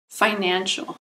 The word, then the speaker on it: financial: Financial. Financial has three syllables. Financial. Emphasis on the second syllable.